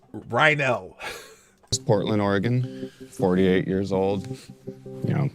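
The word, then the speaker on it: Reinoehl: Rynell, that's how you say his name. Rynell.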